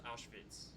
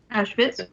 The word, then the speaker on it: Auschwitz: How do you pronounce Auschwitz? Auschwitz.